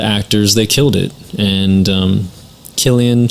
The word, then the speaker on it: Cillian: you know the actors they killed it and Killian Cillian and I you say his name I see